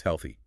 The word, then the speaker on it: health: Let's look at health versus healthy. Health is the foundational noun. It ends softly, with your tongue between your teeth for the thief. Right, health.